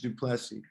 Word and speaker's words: Duplessy: want to mess it up good plessy george duplessi awesome so so tell tell the folks the